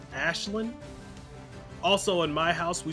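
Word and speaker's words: Aisling: just a PSA that her name is pronounced Ashlin also in my house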